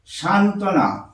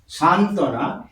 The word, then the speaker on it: সান্ত্বনা: থেকে বিউ হল আরো লিখছি আরো এক্সাম্পল আসছে সান্ত্বনা সান্ত্বনা এই বচ্চারণ হচ্ছে না বফলা দন্ত নয় তয়ে